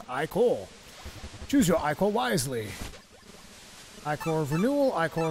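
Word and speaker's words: ichor: I can fill it with magical iore that's pronounced iore choose your iore wisely iore of renewal iore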